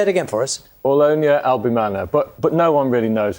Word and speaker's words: Aulonia albimana: This is the Aulonia albimana.